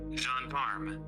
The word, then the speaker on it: gendarme: Gendarme. Did you hear that at all? Yes. Cool. That's the internet apparently pronouncing gendarme, which is an armed police officer in France or other French countries.